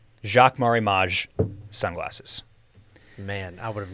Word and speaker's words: Jacques Marie Mage: i've also learned how to say the name jacques marimage sunglasses man i would have never never come